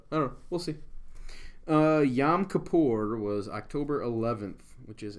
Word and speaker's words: Yom Kippur: This is spelled right. It's not Yom Kippur. It's Yom Kippur, which is how I spelled it.